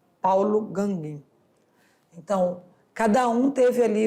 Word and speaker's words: Gauguin: Acho que é essa a pronúncia, Gauguin, experimentou, então, o uso simbólico da cor e do traço.